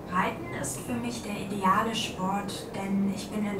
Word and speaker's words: ideal: Reiten ist für mich der ideale Sport. Der ideale Sport. Ideal? Ideal. Ideal. Same spelling, but pronounced ideal.